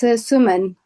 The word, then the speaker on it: Suman: Is your name correctly pronounced Suman or Suman? Because I think both would be correct names in Sanskrit, certainly, with slightly different meanings. So how is your good name pronounced? It's Suman. Suman, okay, just in Sanskrit,